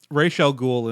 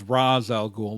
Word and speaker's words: Ra's al Ghul: for the listeners and viewers who aren't aware rachele ghoul and that's how you're supposed to his name often has his name mr. pronounced in various media as Ra's al Ghul like you saw in Nolan's trilogy they refer